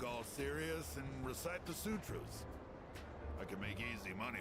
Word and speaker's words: sutra: ass off mentality Sam how the sutras is pronounced Sutra is it not Sutra Sue is in like to sue somebody and then Tru maybe I should think